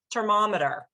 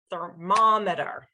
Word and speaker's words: thermometer: Let's say that you can't say that sound easily and you say it "termometer" with a /t/ sound. As long as you have that stress in that second syllable, thermómeter - I'm clapping at the second syllable, it doesn't matter if you get that initial consonant a little bit wrong, so that's why stress is really important.